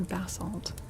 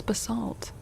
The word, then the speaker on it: basalt: Oh, the the British pronunciation puts the the emphasis on the first syllable.